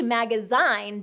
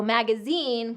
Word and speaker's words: magazine: So it should be magazine based on these rules for pronunciation in American English. But it is an exception because of its French influence. So magazine comes from a French